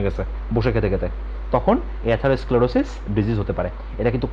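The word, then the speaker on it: atherosclerosis: তো এইটার প্রোনাউন্সিয়েশনটা পাশে দেখো লেখা আছে, ওকে, প্রোনাউন্সিয়েশন আমার সাথে করো, অ্যাথারোস্ক্লেরোসিস। অ্যাথারোস্ক্লেরোসিস এটা একটা ডিজিজ, এবং অ্যাথারোস্ক্লেরোসিস ডিজিজটা হবে যদি কারো ভেসেলের মধ্যে বা ভেইনের মধ্যে অতিরিক্ত পরিমাণ চর্বি জমে।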